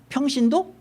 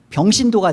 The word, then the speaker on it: 평신도: 일단은 성직자와 뭐 평신도 이게 발음 잘해야 돼요. 이게 병신도가 돼 버리니까.